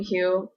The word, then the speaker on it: Hugh: But I thought Haven won for pronunciation just because silent G going on in the name Hugh.